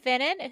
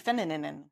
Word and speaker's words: Finnan: KP Finnan, who's that? Do we know who that is? Yes, we've had her before because I accidentally pronounced her name KP Finnanen. Oh, yeah. Finnan. You added a bunch of, yeah.